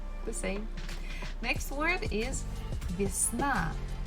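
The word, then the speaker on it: весна: same next word is visna bisna spring it's a syllable Falls at the last syllable na so the first syllable Vias we have to pronounce with letter e next word is that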